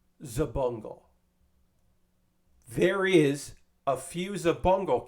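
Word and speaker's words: Xabungle: I kept saying it wrong, but it's Zabungle.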